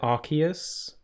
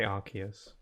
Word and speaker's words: Arceus: See, that's why I pronounce it Arceus, because of the word arc. A-R-C. You wouldn't pronounce that word on its own, just arse. So, that's another reason why I say Arceus.